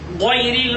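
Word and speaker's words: غير: কণ্ঠের নিচ থেকে উচ্চারিত হয় গইন গইন খ, যেমন গইরিল মাগদুবি আলাইহিম ওয়ালাদদাল্লিন। গইন অনেকে বলে গাইরিল মাগদুবি, এটি ভুল, গইরিল বলতে হবে।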